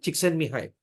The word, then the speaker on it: Csikszentmihalyi: Well, the concept of flow by Mihai Csikszentmihalyi. That's how you pronounce his name. Mihai Csikszentmihalyi.